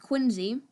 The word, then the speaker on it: Quincy: son of john adams and yes it is pronounced quincy the election of 1824 in which adam was